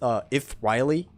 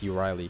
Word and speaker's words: Euryale: Which, by the way, in Greek, if there's any Greeks in the chat right now, I think it's pronounced Ithriley. Ithriley. At least that's how I heard Zim pronounce it.